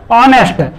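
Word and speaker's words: honest: जैसे ऑनेस्ट, तो एच से प्रारंभ हुआ किंतु आवाज आ की दे रहा, तो इसमें एन का प्रयोग होगा। इसी तरीके से आवर, एच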